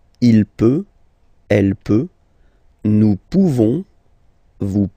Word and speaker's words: pouvons: Okay, you don't pronounce the final S. Nous pouvons.